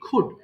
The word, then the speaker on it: could: আমরা খুড পড়বো, COULD, খুড। উচ্চারণ হবে কি? খুড। এল এর উচ্চারণ এখানে হবে না।